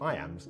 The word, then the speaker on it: iamb: and kill the envious moon notice how the iambs cut across both punctuation and word separation meter